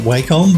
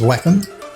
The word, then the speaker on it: Wacom: I used to call it Wacom, but I believe that Wacom say you should say it as Wacom. I still call it Wacom.